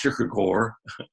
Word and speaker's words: Kierkegaard: man's name was Soren Kierkegaard if you speak Danish it's pronounced Kirk Kirk or he once remarked and